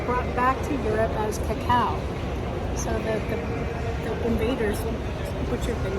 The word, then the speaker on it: cacao: latter how to pronounce cacao cacao pronunciation just like in cut or cowardly cocoa pronunciation just like